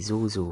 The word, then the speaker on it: Sozo: It's called the Zozo fruit. It's spelled Sozo. That translates to creation in Japanese."